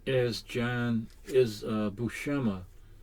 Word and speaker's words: Buscema: what i used to say jambu shima or jambusima the actual pronunciation is john is uh bushema bu shema bushema and i found out because of an